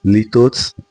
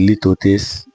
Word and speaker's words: litotes: In today's lesson, we will be looking at litotes. I've heard people pronounce it litotes, but I'm comfortable saying litotes.